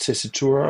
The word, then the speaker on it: Tessitura: it is it pronounced tesitura or what how is it pronounced yeah okay tesur is correct it's an Italian word from the Italian music language uh it means uh